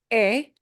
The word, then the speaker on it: he: But remember that, you know, that H from a is silent, it comes from haber. So the forms are e, and that's a tough one to pick up too.